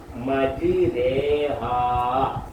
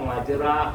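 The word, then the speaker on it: مجراها: ഹാ ഹാ കണ്ടോ ബിസ്മില്ലാഹി മജരേഹ എഴുതിയേക്കുന്ന മജ്റാഹ എന്നാണ് പറയേണ്ടത് മജിരേഹ എന്നാണ് ശ്രദ്ധിക്കേണ്ട ഇത് ഖുർആനിലുള്ള വചനങ്ങളാണ്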